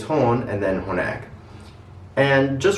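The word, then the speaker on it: هون: palestinian arabic is again that's horn with the soft h and a long o sound hon now remember that in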